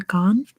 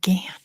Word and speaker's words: Ghan: Rhymes with can. Oh, Gan. Gotcha. That makes more sense with an Australian accent. Gan, yes.